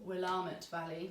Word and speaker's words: Willamette: So this is from Willamette Valley as well, or Willamette Valley. Oh, is that how they say it? Yeah. I always say Willamette.